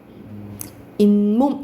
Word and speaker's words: 잇몸: 잇몸 이렇게 나죠. 그쵸? 그러면 무슨 소리가 덧나는 거야? 니은 소리가 덧나죠.